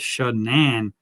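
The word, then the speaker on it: Shan'ann: yearbook, her senior yearbook, she wrote her name with an apostrophe after the Ann. So I think that's something that she made up. I mean, maybe that's not how her parents intended to pronounce the name. I don't know for sure, but I do know that it had that apostrophe in there that kind of broke the name up as Shan-Ann, actually, Shan-Ann.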